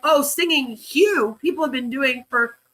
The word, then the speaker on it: Hu: No one's been singing Hugh for many years. It Paul Twitchell started that in 1965. They've only been singing it since 1965. Damn it. You know, pronounced as Q.